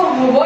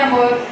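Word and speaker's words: hour: इसको होवर ऐसे नहीं बोलेंगे, ओवर बोलेंगे। ओके, 1 आवर, 2 आवर, 3 आवर, इसमें एच है वो साइलेंट होता है।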